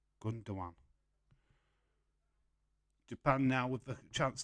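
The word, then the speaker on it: Gündoğan: It's Gundogan. But you're wrong. People are confusing me. You was wrong. It's spelled Gundogan. I've got it right. Gundogan.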